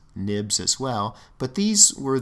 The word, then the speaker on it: xib: these are called storyboards a dot xib we pronounce these nibs as well but these